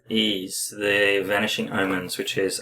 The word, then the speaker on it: Ys: s it's y s so it's e e ease the vanishing Omens which is a Master System